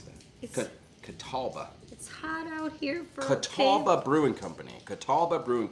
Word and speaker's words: Catawba: it's so hot out here how do you pronounce that okay Catawba Catawba Brewing Company Catawba Brewing Company White Zombie